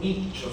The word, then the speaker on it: Miccio: Renato Miccio se lee. Se escribe Mixio.